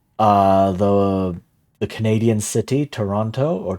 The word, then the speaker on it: Toronto: But yeah, like my my go-to example is uh the the Canadian city Toronto or Toronto, right? You have three O's in there and every O is pronounced differently and you have two